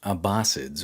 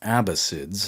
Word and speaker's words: Abbasids: This new movement, by the way, was going to be named after their new caliph, Abu al-Abbas al-Shafa, hence the Abbasids or Abbasids, I've heard it pronounced both ways.